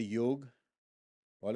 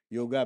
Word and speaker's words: Yog: How many of you know the word yog? All of you? Yoga because it's an A, but actually you can pronounce it as yog.